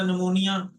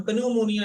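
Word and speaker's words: pneumonia: इसी तरह नमोनिया, तो उसके शुरू में पी आता है, लेकिन हम पन्यूमोनिया नहीं पढ़ते, हम नमूनिया पढ़ते हैं, ठीक है।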